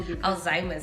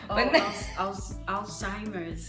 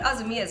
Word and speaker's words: Alzheimer's: probably don't even know alzheimer's i think i got it right today if i got it wrong it's okay alzheimer's i used to call it azamias for a long time okay that's you said